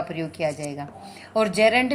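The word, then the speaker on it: gerund: अपना फर्स्ट होगा infinitive, second is जीरेंट, जिसको बोला जाता है, सही प्रोनाउंसिएशन रहेगी जेरेंट, ओके।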